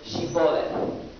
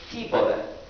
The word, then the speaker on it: Shibboleth: to utter the word Shibboleth. The Ephraimites, unable to enunciate the sh sound, pronounced it Shibboleth, and in doing so sentenced themselves to death.